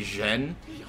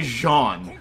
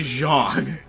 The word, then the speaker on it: Jean: there's John but it's written out JEA and and E so people will say Jen but also it's like they literally say Jean how hard is it to say Jean I'm a stickler for